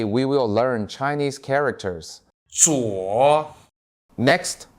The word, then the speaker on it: 左: 左 Next, watch how I pronounce it. 左 z u 我左左左边左边铅笔在你的左边，铅笔在你的左边，左手，左手，你用左手写字吗？你用左手写字吗？左侧，左侧，电脑在房间左侧。电脑在房间左侧。